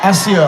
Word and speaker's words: Accio: Is it Accio when you want to bring something to? Yeah, Accio. I pronounced it wrong.